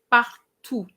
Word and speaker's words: partout: And you say elle joue un peu partout. And partout is like surtout. There's no E after the T, therefore you don't pronounce the T.